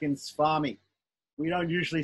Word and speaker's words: swami: So swami, yeah? So it's pronounced like a wa usually when it comes in a conjunct.